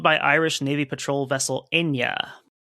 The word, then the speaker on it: Eithne: And they're also joined by Irish Navy patrol vessel Enya. Echnia. I don't know exactly the Irish pronunciation, but it's Enya. It's the name Enya, like the singer Enya. Uh-huh. It's just spelled EITHNE.